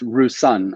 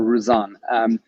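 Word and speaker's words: Roussanne: single varietal introduce us rouzan if i'm pronouncing it correctly and tell us what that's about uh you've actually almost nailed the pronunciation um you know it is rusan or rouzan and it is a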